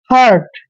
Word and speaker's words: hurt: और देखिए दोस्तों, HURT, इसको पढ़ते हैं हर्ट। क्या पढ़ते हैं? हर्ट। देखिए यहाँ पर यू का उच्चारण हमने ए के रूप में किया है।